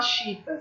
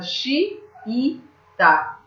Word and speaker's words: xiita: Você não fala chita, você fala xiita, né? 3 sílabas.